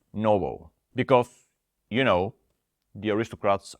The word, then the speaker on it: NOBL: 500 dividend Aristocrats ETF ticker symbol and O pronounced Noble because you know the